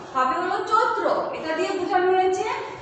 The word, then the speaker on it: চৈত্র: তাহলে কি উচ্চারণটা কি হবে? চয়ে। এটা কিন্তু হবে না, হবে হলো চৈত্র।